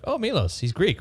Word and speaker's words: Milos: It's pronounced Milos. Milos.